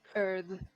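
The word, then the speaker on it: Urðr: It is a voiced th like this and that. Earth.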